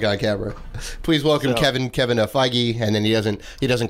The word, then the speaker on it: Feige: Please welcome Kevin Feige, and then he doesn't correct anybody. You go, okay, it's Feige.